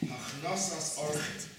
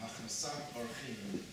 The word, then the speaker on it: Hachnasas Orchim: basic form of hospitality, in Hebrew it's called Hachnasas Orchim. Hachnasas Orchim, Hachnasat Orchim, smart pronunciation.